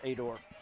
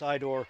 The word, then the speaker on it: Aitor: Actually, it's Itor. What did I say? Ador. It's Idor. I saw it written down for the Itor, public. the A is silent. Yeah, I looked at the public address announcer's cheat sheet. So there's no A, it's Itor.